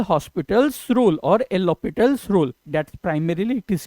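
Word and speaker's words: L'Hôpital: L hospitals rule or lopital rule that's primarily it is called the H is silent over here so as per the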